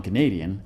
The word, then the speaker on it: Canadian: Canada, l'accent est sur la première syllabe, alors que dans Canadian, il est sur la deuxième.